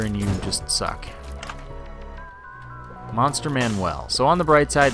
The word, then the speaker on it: Manuel: And I say Manuel because it's spelled Manuel. Manuel's a name, M-A-N-U-E-L. Manual is M-A-N-U-A-L, and that's the word that it's probably intended to be, but that's not the point.